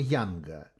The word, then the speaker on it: Юнг: картинкам сечас это называется Юнга как вообще правильно говорить диаграмма Юнга или диаграмма Янга Ну по-русски диаграммы Юнга так же как закон Ньютона Хотя он его зовут